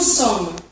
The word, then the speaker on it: sommes: Nous sommes. Você só pronuncia mais ou menos até o M.